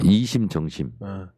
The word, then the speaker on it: 이심전심: 이심정심이에요. 발음을 정확하게 하세요. 이심정심.